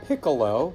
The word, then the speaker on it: piccolo: It's called a piccolo. Sounds like the word pickle with an O on the end.